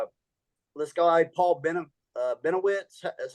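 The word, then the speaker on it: Bennewitz: these guys are uh let's go Paul Ben benowitz is how you say his name he's a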